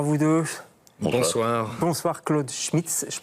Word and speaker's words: Claude Schmitz: Bonsoir Claude Schmitz, je prononce bien, ouais.